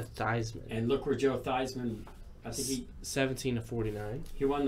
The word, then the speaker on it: Theismann: went to Notre Dame they thought it'd be better if it rhymed with Heisman yeah so the whole family changed the pronunciation to thighs and look where Joe Theismann a c-17 249 he